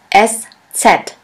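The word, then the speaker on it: Eszett: alphabet which looks like this we call it s set s set which means a sharp s this letter is pronounced like the double s in the word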